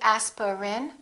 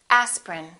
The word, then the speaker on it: aspirin: and repeat after me aspirin don't say asperin say aspirin evening evening family family beverage